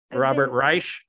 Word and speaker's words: Reich: Reich, the half economist. I'm saying his name wrong. It's Reich.